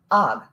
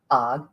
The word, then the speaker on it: Og: Og, who was Og's brother and who died in the first moments of battle. Og, A-G instead of O-G, in case you're not hearing the pronunciation.